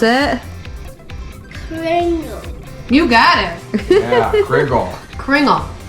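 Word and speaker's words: Kringle: sure to get someone we're in town first Pringle in my life good except we pronounce it cringle you got it yeah kingle cringle cringle it's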